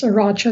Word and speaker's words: Eriacho: Yes, Eriacho. The I is silent.